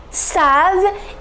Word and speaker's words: savent: savons vous savez ils savent il ne faut pas prononcer ent vous n'allez jamais prononcé ent you never have to